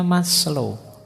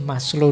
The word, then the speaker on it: Maslow: Jadi moralitas itu kalau di Maslo Abraham Maslo ini bukan Maslo membacanya. Maslo itu nama jangan dibaca mas itu yo mas lo itu rendah jadi Mas yang kelas rendah gak maslo itu lengkap.